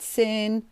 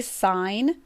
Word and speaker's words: sine: we spell these things a lot of people like to call that sin cos cos whatever i traditionally will pronounce it correctly sine this one is cosine